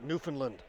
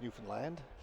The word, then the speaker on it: Newfoundland: Just said timeout Newfoundland. Have a long talk with that boy. We all know it's Newfoundland. Rhymes with understand, right?